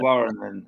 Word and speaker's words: Warren: Warren, pronounced Warren in English now. Warren being a French name, de Varenne, and he was, I